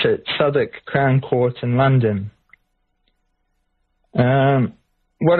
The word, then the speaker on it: Southwark: at Southwark, it's pronounced Southwark Crown Court. It's spelt Southwark for anyone who isn't familiar with the English way of pronouncing things. It's at Southwark Crown Court in London.